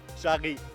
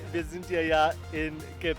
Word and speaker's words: Jarry: Exactement et on ne le prononce pas Jarry, mais Charry, parce qu'on est au Québec et que le français québécois n'est donc pas Jarry mais Charry.